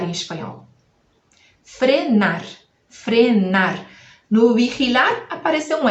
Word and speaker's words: vigilar: Escreve quase igual, só vai colocar um L aí no final. E escreve vi, né? E a gente vai ler o bi, gi, vamos ler ri, e ao final, lar.